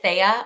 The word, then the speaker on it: Thea: It's pronounced Thea.